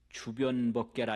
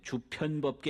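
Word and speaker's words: 周遍法界: 이렇게 하고 그 광명이 두루시 비춘다가 이제 변조인데 불교 한자는 편자를 보편적이라고 하는 편자를 이 변으로 발음을 해요. 주변법계라 이러는데 그게 본래 옥편에는 편으로 되어 있네. 주편법계 이러지 않고 주변 이러거든요. 그래서 편을 변으로 읽는다.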